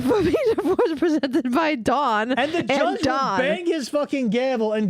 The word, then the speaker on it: Dawn: is different from dawn because it's because you're pronouncing the first Dawn wrong d o n da d a w